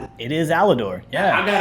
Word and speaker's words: Alidor: Allor It is Allidor. Yeah, I got it right. People get my name wrong.